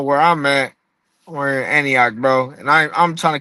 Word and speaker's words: Antioch: That's how you say it, Antioch.